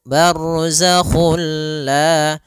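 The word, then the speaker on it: برزخ: bunyi huruf nunnya ya Sehingga langsung masuk barzak dan dia bila gunah berarti tidak boleh disertai dengan gunah tidak boleh ada penahanan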